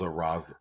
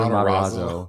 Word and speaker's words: Matarazzo: See, I thought he was Mazzarazo. Say her name? Heather Matarazzo.